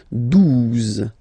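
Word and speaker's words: douze: exist phonetically, 11, okay, 12, 12, O, U, the two together will give you the sound OO, okay, and then Z, 12, 12, alright.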